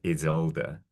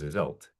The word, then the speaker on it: Iseult: were doing and she heard that we were pronouncing it as is older she flew into a mild but she was holding back I think a bit of a fury she wasn't happy that we'd gone for the Germanic so for the rest of that story she was hisult the Irish pronunciation so maybe honoring the